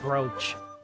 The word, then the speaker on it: brooch: not like the word brooch because it is spelled bro but pronounced brooch I just it is